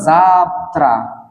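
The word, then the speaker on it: завтра: কেন ব্যবহৃত হল কাকিয়ে ফ্লানি না যাত্রা এটার উচ্চারণ হবার কথা জাফত জাফত কিন্তু এটার উচ্চারণ এটা হবে না ভুল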